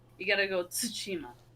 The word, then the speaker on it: Tsushima: You got to go Tsushima. Like it's like I said it so bad right there, but I was exaggerating. So it's Ghost of Tsushima. So there is a T sound there.